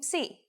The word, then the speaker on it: psi: If you ever forget how to pronounce this letter, just remember, psi is for Poseidon and his trident.